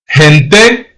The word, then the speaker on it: gente: If the vowels E or I comes after the letter G, then you have to pronounce it soft. Gente, which means people, and gigante, which means giant.